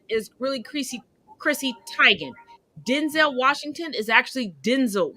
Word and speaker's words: Teigen: their name and you know i'm all about pronouncing people's names properly it was never grande it's granny just like chrissy teigen is really crazy chrissy tygan denzel washington is actually denzel washington cicely tyson